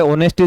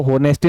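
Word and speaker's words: honesty: कैसे करेंगे यहां पे ऑनेस्टी दे रखा है मेरे भाई इसको होनेस्टी नहीं पढ़ा जाता इंग्लिश में जब अपन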